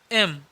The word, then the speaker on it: M: एम बहुत सारे लोग यम भी बोलते हैं, यम नहीं, यम उच्चारण बहुत गलत है। इसका सही उच्चारण हो जाएगा एम।